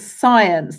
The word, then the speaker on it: science: So it does begin with S, but it's got this silent C.